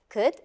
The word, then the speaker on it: could: Sometimes the OU sound is found inside some special words like could, should, and would. Do you know what's interesting about these three words? They are spelled O-U-L-D, but we do not pronounce the L.